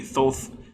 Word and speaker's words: Thoth: out earlier the uh the greek uses an omega so even if you're using the greek reconstructed pronunciation it would be thoth whatever i'm not gonna